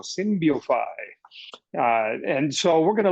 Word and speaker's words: Synbiofy: I'm saying it how they say it down in Mexico, Synbiofy.